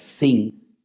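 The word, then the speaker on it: שׂ: derecha es Shin, y si te encuentras arriba un punto a la izquierda es Sin, pues ahí encontramos a Sara, porque Sara se escribe así, con esa letra.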